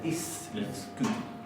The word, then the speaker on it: íslensku: Recuerden que la S no es aspirada como en castellano, sino que es fuerte, se pronuncia íslensku.